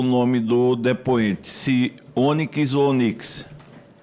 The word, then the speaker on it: Onyx: Se Onyx ou Onix? A minha mãe gostava da letra Y, ela botou Y no meu nome, então trocou a fonética, é Onix, porque a pedrinha preta é Onyx.